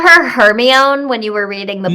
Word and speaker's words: Hermione: the Harry Potter books as a child, and we didn't know how to pronounce Hermione because Hermione the E. is from Shakespeare. Hermione. But if I read Shakespeare, I would have still pronounced it Hermione.